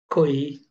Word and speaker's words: koinonia: The word communion is translated in Strong's dictionary word number G2842 as koinonia, pronounced koinonia.